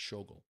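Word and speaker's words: Schogol: I always thought it was Schluggle, but I keep messing up his name, his pronunciation, and it's Shogle.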